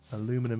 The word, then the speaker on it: aluminium: Aluminum instead of aluminium. Well, that's just how Americans pronounce it.